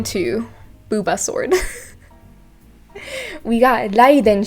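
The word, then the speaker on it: Raiden: booba sword we got laiden shogun and the only way i can say that is another rolling r literally meaning lightning and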